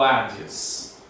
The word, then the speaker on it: Hades: aqui, que é Sheol e Hades, ou Hades aqui que nós pronunciamos em português.